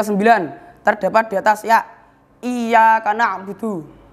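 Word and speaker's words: إياك نعبد: Itu kita bacanya harus ya-nya itu harus jelas tasdidnya, nggak boleh samar. Kalau kita bacanya tasdidnya itu tidak jelas, kita akan bacanya seperti ini. Iya karena abudu itu salah.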